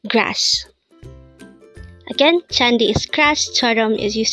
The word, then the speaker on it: 잔디: word for today word number 345 is it's chandi which means grass the first word for our